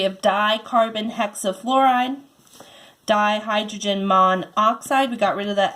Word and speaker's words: monoxide: of our exceptions again it can't be mono oxide because if you pronounce this and be like my side and we want it just to be monoxide so we get rid of